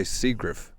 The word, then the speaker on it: Seagriff: You always say Seagriff. Yes. Spelled Seagriff.